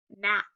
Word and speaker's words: gnat: When G and N are together, the G is silent. So it just says N. We have N. Word is gnat.